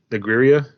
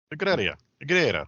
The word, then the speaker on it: Negreira: I'm pretty sure I'm going to say the guy's name wrong. You will. Negreira. Negreira.